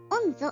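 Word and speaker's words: 御衣: 御像と読みますが、漢字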